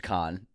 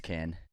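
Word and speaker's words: Caan: my best here and you said James Khan It's can I'm gonna can you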